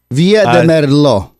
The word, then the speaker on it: Villa de Merlo: Micro, North Carolina, Logan, Ohio, Stillwater, Oklahoma, Tucumcari, New Mexico, and Villa de Merlo, San Luis, Argentina. Do I pronounce that correctly, Oscar? Argentina. And is it Villa de Merlo? Villa de Merlo.